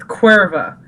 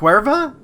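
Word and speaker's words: Caoimhe: Yeah, it's pronounced Cuerva. And I'm like... Like the beer. Yeah. In Mexico. But not exactly. And the spelling is like Ciomhe. And that's it's just pronounced like, Cuerva?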